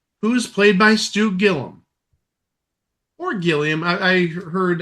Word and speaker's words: Gilliam: I I heard on a couple of opens of match game 73 earlier today, his name pronounces Gillum, even though it's spelled G I L L I A M like Arman Gilliam.